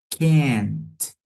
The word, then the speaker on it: can't: Note que can't. Esse T você utiliza praticamente seus dentes superiores para pronunciar. I can't. Ok? Sua língua encosta na parte de trás dos dentes superiores.